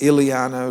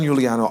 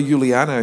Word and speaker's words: Giuliano: Matter of fact, nobody could pronounce it. It was Iliano, Luliano. Even to this day, I got no. We go to hotels where we've booked, and it's Giuliano, I-U-L-I, and they look, and no, there's no Giuliano here.